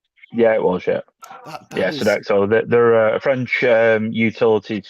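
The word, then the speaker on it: Sodexo: It was run by a company called Sedexo. Sedexo. Am I pronouncing that right? Yeah, it was. Yeah. Yeah. Sedexo.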